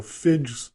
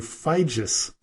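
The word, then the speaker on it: Figes: was mistaken when I called him professor Orlando FID or fides but it is pronounced Orlando FIS sorry for that now on with the show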